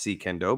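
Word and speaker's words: Suikendo: the martial art I'm talking about is called secendo and it's pronounced secundo but it's spelled s-u-i Kendo and c means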